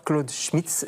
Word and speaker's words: Claude Schmitz: Bonsoir Claude Schmitz, je prononce bien, ouais.